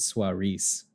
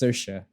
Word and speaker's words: Saoirse: then it throws me off I used to pronounce it soir Reese but it's yeah it's Saoirse like I've told you like I've there's a